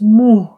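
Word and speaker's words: मुँह: And then we have the word for mouth, which is muh. Okay, muh. There is a very, very, very faint N sound. So it's not muh. It has a slight N sound, which is why I've put it in brackets, right?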